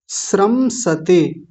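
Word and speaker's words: स्रंसते: बताया ही था अभी श्रम सते श वाला श मत बनाइएगा ये वाला ही स रखना है आज इनका भेद पूरा बता देंगे कई दिन से ये रुका हुआ है तो श्रम सते जैसा ये वाला स है वैसा ही ये है बस इसमें र बन गया है बीच श्रमसते ऐसा बोलेंगे गांडीव समसते हस्तात तो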